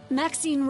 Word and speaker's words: Maxine: Maxine rhymes with queen, after all, and dearest, that is hardly a coincidence.